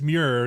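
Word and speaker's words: Muir: want to say like if your name is mure just spell it m r e why is it m UI R what is that mure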